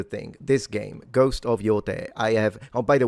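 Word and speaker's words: Yōtei: This game, Ghost of Yote, I have Oh, by the way, please stop saying yai. This isn't German. It's Japanese.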